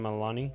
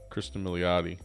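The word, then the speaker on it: Kristin Minciotti: with her Chris Christine Milani it's uh I was saying it wrong it's milot Milani motti milot yeah Kristen motti okay love her to death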